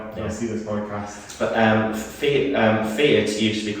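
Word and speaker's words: Feart: So the Fiat, who I keep pronouncing it wrong, Fiat, but spelled F-E-A-R-T.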